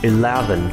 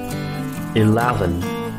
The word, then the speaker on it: eleven: sao ạ Đó là số 11báo nắm lá eleven mình suy nghĩ trọng âm rơi vào phần này bạn cần phải